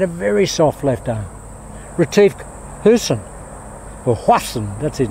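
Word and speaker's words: Retief Goosen: Retief Hussain, or Hwassan, that's his name, Retief Hwassan. That's his actual pronunciation, Hwassan. That's that South African pronunciation, Retief Hwassan.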